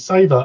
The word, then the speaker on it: savor: It's savor, as in savor the aroma. As in flavor with an S instead of a fl.